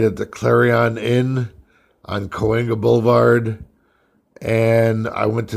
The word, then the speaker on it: Cahuenga: And I didn't know how to pronounce Cahuenga, so I said Chattanooga. And he started laughing. He says, you mean Cahuenga?